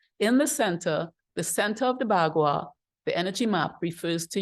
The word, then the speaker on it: Bagua: It's pronounced differently in Chinese, and this is the English way of pronouncing it. I think they call it Bakwa, but you'd have to check on that.